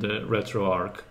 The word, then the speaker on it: RetroArch: flight gear and retroarch not sure if it's pronounced retroarch or retroar Arch I have a feeling that people pronounce it both ways but the one tutorial that I watched the it was pronounced retroarc there so I guess as in like Arc for architecture that makes sense but